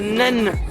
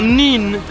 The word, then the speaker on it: Nene: by the way, the Nen Valley, not the Nene Valley like I've said beforehand. So it's Nen Valley. It is spelled N-E-N-E, but it's pronounced Nen or Nin if you come from Peterborough area.